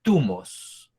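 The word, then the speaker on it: θυμός: Estas palabras son unas tumos. Se escribe T-H-U-M-O-S.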